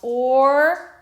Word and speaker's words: orange: Okay, G says J in this word because it's followed by an E, so it's the soft G sound. So we have orange.